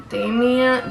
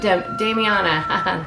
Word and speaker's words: damiana: occasionally there's eh um forgive me if i don't pronounce one of these right uh domain damien damian damiana that's it and that's a flower